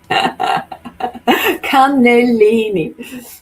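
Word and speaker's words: cannellini: because they say they say the N that it's double N and double L and in um contrary to how we say double letters they pronounce each single one like we say tennis and they say tenness it's pretty it's pretty funny and they when I say tennis it's like well you're wasting a letter and I'm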